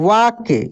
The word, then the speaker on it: walk: WALK, वाक, इसको हम लोग क्या पढ़ेंगे? वाक, वाक, वाल्क नहीं पढ़ेंगे, एल नहीं, कप, एल साइलेंट रहेगा, वाक पढ़ेंगे।